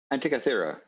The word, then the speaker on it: Antikythera: my head around in quantum mechanics was that Antitheria. How do you? Somebody pronounced it.